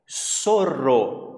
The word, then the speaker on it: zorro: E 6, olha aqui, ó, outra palavra curiosa, zorro. E a pronúncia é so mesmo, é zo, é so. Como se fosse pronunciar com som de S, zorro.